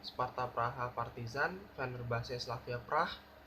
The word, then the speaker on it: Praha: Uh, Terus juga Celtic lawan Bodo Glimt, Sparta Praha Partizan, Fenerbahce Slavia Prah. Dan bacanya Prah ya, bukan Praha.